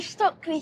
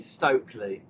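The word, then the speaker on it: Stöckli: oh, my new Stockley skis. Yeah, so Lyla got some new... It's actually Stokely.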